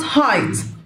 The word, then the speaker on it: height: ما العمر what age what age، ما الارتفاع what height what height، الجي والاتش سايلنت what height.